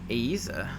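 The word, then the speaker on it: Eiza: pronunciation right i mean technically i think it should be pronounced aiza aiza because i i'm pretty sure in spanish you pronounce everything unless you know like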